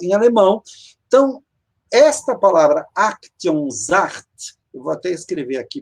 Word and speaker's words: Aktionsart: Aktionsart. Aktionsart. O S em alemão, ele tem som de Z.